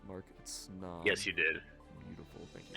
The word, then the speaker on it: Snom: Snom.